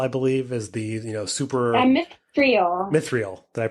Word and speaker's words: Mithril: I think the piece that I was alluding to, I think was the metal is Mirthil, I believe, is the super Mithril. Mithril. Did I pronounce?